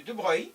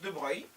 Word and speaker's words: de Broglie: la loi dit de de Breuil donc ça s'écrit de Brogli mais ça se prononce de breuilil qui dit que la